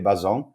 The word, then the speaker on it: Bazon: straight away so yeah first things first you pronounce my name correctly bo-zone yeah I've been doing SEO for quite some